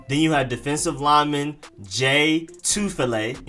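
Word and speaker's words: Jay Tufele: you have defensive lineman j two filet and you emphasize the two part j two fillet j two fillet then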